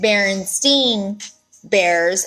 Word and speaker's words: Berenstain: know as Perez is spelled berenstain bears but it's pronounced Berenstein bears and usually it's spelled